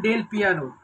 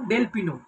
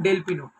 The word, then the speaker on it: Del Pino: যেই প্লেয়ারটি হচ্ছে 34 বছর বয়সী Spanish মিডফিল্ডের player টাইরন ডেল পিয়ানো। I think প্রোনাউন্সিয়েশনটা ঠিকঠাক করছে, ঠিক আছে। টাইরন টাইরন ডেল পিনো, সে যাই হোক, টাইরন ডেল পিনো।